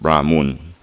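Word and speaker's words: Brahman: that their god is brahmoon spelled b-r-a m-a-n-r-b-r-a-h-m-e-n pronounced brahmoon yes but they worship to communicate with their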